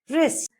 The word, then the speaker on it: wrist: When W comes before R, it usually becomes silent.